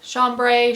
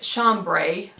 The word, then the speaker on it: chambray: in this chambray fabric chambray chambray tomato tomato i prefer pronouncing it chambray like the british because as with most